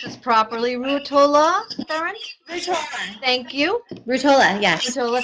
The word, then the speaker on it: Ruotola: I want to pronounce this properly. Ruotola, Behrendt? Ruotola.